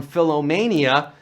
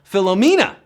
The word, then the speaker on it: Philomena: of the film that he was suffering from Phil amania well that's how Leonard DiCaprio pronounced the phenomenal Philomena at the 71st Golden Globes and we're down